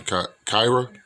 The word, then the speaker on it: Kyria: That's how you say her name, Kyra.